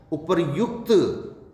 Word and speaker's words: उपर्युक्त: उपरोक्त शब्द नहीं है, उपर्युक्त। उपर्युक्त ये होगा।